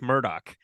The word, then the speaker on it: Murdaugh: the first question is is it Alex or Alec and is it murder or Murdoch because apparently they pronounce it Alec Murdock and I don't know